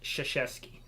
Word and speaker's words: Krzyzewski: If you ever look at how that dude's last name is spelled, there's no way that says Krzyzewski.